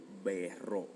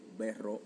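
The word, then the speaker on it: berrò: Y como es labial, los labios bilabial, tú tienes que decir yo berro, que significa yo beberé en el futuro. Yo berro o claramente si quiero negarlo y quiero decir, mira, okay, no voy a beber más, te lo prometo.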